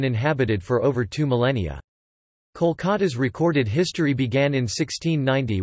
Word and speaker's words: Kolkata: The anglicized form Calcutta was the official name until 2001, when it was changed to Kolkata in order to match Bengali pronunciation.